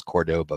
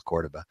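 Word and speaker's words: Córdoba: based on you know Cordoba which I mispronounced my entire life thinking of as Cordoba its Cordoba so if you were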